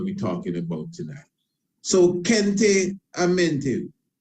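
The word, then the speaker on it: Khenti-Amentiu: So, Kente Amente, I say Kente Amente, pronounced different ways. So it has it here, Kente Amente, or Kente Amentue.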